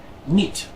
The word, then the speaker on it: niet: This is pronounced E, as in the word niet, which means not.